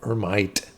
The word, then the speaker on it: Hermite: what I'm calling uh hermite that's the French pronunciation of hermit um is uh what